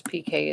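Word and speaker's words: Piqué: Of course, PK is spelled Pique.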